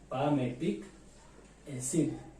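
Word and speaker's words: palmitic: पामेटिक एसिड, L silent होता है, क्या बोलते हैं?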